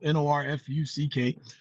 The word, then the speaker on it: Norfolk: Graduated high school in New York, came down to Virginia, Norfolk, Virginia, got down here and found out it was pronounced Norfolk, Norfuck.